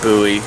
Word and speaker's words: bowie: not a knife blade it's not a bowie blade or buoy if you're a you know a pronunciation nazi i do like the